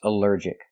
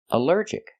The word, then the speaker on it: allergic: Our next word is allergic. Allergic is three syllables. Allergic. The stress is on the second syllable.